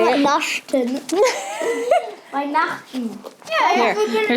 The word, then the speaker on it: Weihnachten: Frohe Weihnachten. Weihnachten? Is it Weihnachten? Weihnachten. Say it. Weihnachten.